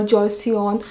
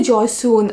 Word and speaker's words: Joseon: So mineral oil can be cheaper than the oils they have used for this one, this formulation for Joseon. Sorry, Joseon. I always pronounce this brand's name wrong.